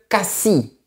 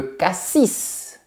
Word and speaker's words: Cassis: C'est un peu comme pour la ville de Cassi. La lettre S est muette. Mais si je me réfère au fruits, je dirais le Cassis. Cassi, c'est la ville. Cassis, c'est le fruit.